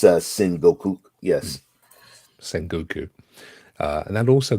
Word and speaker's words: Sengoku: Is that how it's pronounced? I'm glad. Yeah, because I think it's Sengoku.